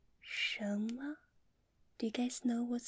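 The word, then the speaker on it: 什么: here this phrase we say it like Shama do you guys know what hit me Shama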